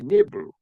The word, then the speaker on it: Nibru: So when you have Nibru key, not Nibiru, but Nibru key, you don't pronounce the key, you just say Nibru.